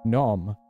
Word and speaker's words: gnome: By that way, I always wonder why in English you don't spell out the G in gnome. Why then not write it as gnome? In German, we spell it gnome. The G is like great.